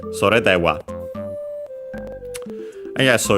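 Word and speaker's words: それでは: By the way, sore unaccented, and so the accent would actually be in this case on the de, because actually when we have this, and also dewa on its own, the accent is on the first particle.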